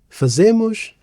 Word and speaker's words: fazem: As for fazem, it's disyllabic, so we stress the first syllable, fazem.